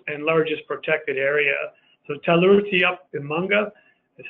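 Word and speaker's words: Tallurutiup Imanga: of Canada's newest and largest protected area so teller rooty up in Monga is how this is pronounced a a new protected area in and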